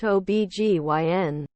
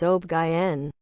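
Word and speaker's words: OB/GYN: when it's spelled out it's an initialism not an acronym I believe it's like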